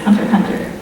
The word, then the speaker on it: Hunter x Hunter: Like the show is Hunter x Hunter, and there's all this debate about how Hunter X Hunter is like actually supposed to be pronounced, but it's Hunter Hunter.